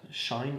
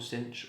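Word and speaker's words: sinh: What I wanted to do was write like a shine or cinch or shine. I say shine.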